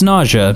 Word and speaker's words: Nausea: to pronounce it and she said it's nausea just like when you have to throw up am I the only